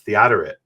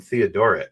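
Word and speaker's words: Theodoret: called church fathers and he says no that's theoret. I always called him Theodorit because I don't know how it's pronounced um at least in English they say theoret.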